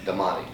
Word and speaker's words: Damani: Damani. Casey. Just think Demon.